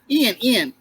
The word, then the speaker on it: Ian: So, Ian, right? Is that the way it's pronounced? Ian. Okay, Ian. Okay. Like Ian McGregor.